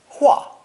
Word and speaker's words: 画: By adding lines, left, right, and below, we arrive at this new ideogram, pronounced fourth tone, 画, 画.